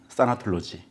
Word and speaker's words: 싸나톨로지: 학문 해서 타나톨로지 그래서 원문 그대로이 우리 반응 그대로 싸나톨로지 이제 발음하게 됐죠 그러니까 이제 그 협회